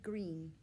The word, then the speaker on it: Greene: name is green that's green with a silent e at the end and i just moved